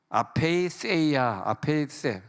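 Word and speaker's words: ἀπείθεια: 모든 사람을 순종하지 아니하는 가운데, 이 단어를 보니까 아페이세이아, 세타는 혓바닥을 깨물어야 돼요. 아페이세이아 이렇게 발음해요.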